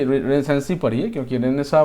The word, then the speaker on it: Renaissance: है रिनेसेंस पढ़ते हैं अी रेसेंस पढ़िए क्योंकि रेनेसा म एक्चुअली रेनेसा पढ़ते हैं लेकिन न आप पढ़िए क्योंकि उसे आपको स्पेलिंग में मिस्टेक नहीं होगा ठीक है तो